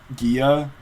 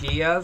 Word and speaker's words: Gia: communicate to them that it's pronounced like a J. And even then, there was some British woman in the library who pronounced it like Gia, so I was like,